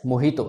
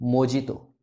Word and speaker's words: mojito: Again, ये Spanish से लिया हुआ वर्ड है और प्रोनाउंस्ड एज मोहितो ना कि मोजितो।